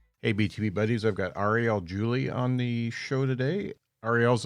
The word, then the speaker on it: Ariel Julie: listen to this one it's a good one Arielle Julie hopefully I pronounce that right do they pronounce that right